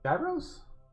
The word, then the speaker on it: gyro: Gyros? Yes, absolutely. It is Saturday. It is Gyro Day. Saturday is now officially known as Gyro Day. Or Euro Day, if you prefer that pronunciation.